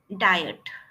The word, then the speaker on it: diet: So just uh practice this sound and uh diet. Diet. Okay. It is di diet. Okay. So you have to just stretch the word diet.